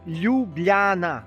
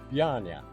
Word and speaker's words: Ljubljana: You gotta say L-J-U. Lju. Lju. Yeah. Say Yeah. Yeah. Lju. Yeah. Ljubljana. Ljubljana. Ljubljana. It's good. I try it faster. Ljubljana. Ljubljana. Close enough. But you can't pronounce J.